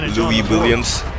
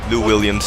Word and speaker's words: Lou Williams: you know they have louis williams lou williams actually that's how you're going to pronounce it new williams that point guard you